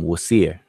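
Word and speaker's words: Wsir: And then the next group here, we see Wasir, the name for what the Greeks pronounce as Osiris. Hotep Di Nasut, Wasir.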